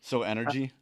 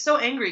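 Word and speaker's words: so_engry: Y which is angry everyone always mispronounces it as energy but I still the joke is very funny so energy yeah everyone always call it so energy but it's so angry because my last name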